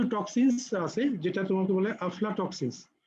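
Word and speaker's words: aflatoxins: টক্সিনস, কিছু টক্সিনস আছে যেটা তোমাকে বলে আফলাটক্সিনস। তোমাদের অনেক সময় পরীক্ষায় হয়তো উচ্চারণ করা হচ্ছে আলফা টক্সিন, আলফা টক্সিন কিন্তু না, এটা হচ্ছে আফলাটক্সিনস।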